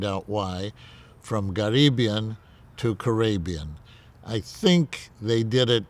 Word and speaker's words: Karabian: why, from Karabian to Karabian. I think they did it because it made it easier to pronounce. They said it's Karabian, Arabian with a K in front of it.